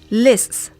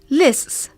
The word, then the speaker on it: lists: Here's how the words are pronounced: grasp, grasp, crisp, crisp, lists, lists, chloroplasts, chloroplasts. They're a little tricky, aren't they?